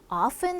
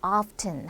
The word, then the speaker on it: often: 뭐 일반적으로 often 자주 often 하기도 하고 often 하고 트 발음을 내주기도 합니다 자 sometimes 가끔 때때로